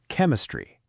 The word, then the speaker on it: chemistry: And the third one is when ch can sound like c. This especially happens in Greek or classical words. School, chemistry, character, chorus, chaos, architect.